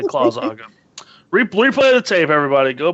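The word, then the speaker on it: Claus'Aga: It's Claus apostrophe AGA. Claus Aga. That's how it's pronounced. That's exactly You finally pronounced it correctly. I've said that every fucking time. Claus Aga. You usually miss the S and put it in after the apostrophe.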